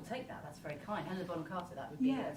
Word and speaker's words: Helena Bonham Carter: Helena Boham Carter, is that how you say her name? I will take that. That's very kind. Helena Bonham Carter, that would be Yes.